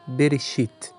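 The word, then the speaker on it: בראשית: Então você pode observar que o Aleph é mudo no fim da sílaba e, portanto, não tem nem vogal e nem sheva mudo a seguir. Primeira sílaba, então, é Berê. Mas o Aleph está anexado ao Berê, só que ele é mudo, não se pronuncia.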